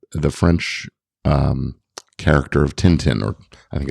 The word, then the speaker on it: Tintin: French um character of Tintin or I think it's tant in in the French pronunciation um where theyve basically